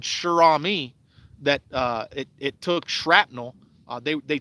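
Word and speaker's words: Cher Ami: You got to check out that story, Shirami. It's spelled Cherami.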